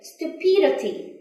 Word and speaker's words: stupidity: the threat and here when you say the adjectives stupid so the chat is on here stupid but when it comes to a noun the thread change come here stupidity stupidity okay let's spend about